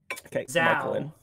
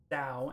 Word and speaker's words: Zhao: So it's Michael Lin, Zhao, like WoW, but with a Z, Zhao, and Pyromantic.